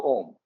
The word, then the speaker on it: Om: used to mean alphabet while om is said to be monosyllabic when pronounced uh it is formed of three sounds the a u and the M hence it is the